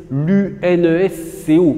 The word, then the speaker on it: UNESCO: dites pas c'est l'UNS l'unes Co vous dites c'est l'UNESCO d'accord donc là ça se prononce comme un mot alors que là pour